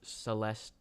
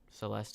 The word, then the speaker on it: Celeste: what it's about though remove the last e Celeste okay it's basically